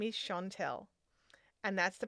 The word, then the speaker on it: Chantelle: My name is Chantelle, and that's the pronunciation of my name.